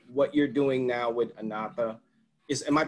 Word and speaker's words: Anatha: And let's talk about as far as what you represent and what you're doing now with Anatha. Am I pronouncing it right? Anatha, yeah.